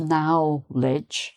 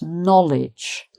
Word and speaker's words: knowledge: so it's not pronounced knowledge, it's pronounced knowledge. Knowledge. So the pronunciation, the vowel sound changes here to knowledge.